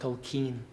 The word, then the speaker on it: Tolkien: It's Keen, sir. It's pronounced Tolkien.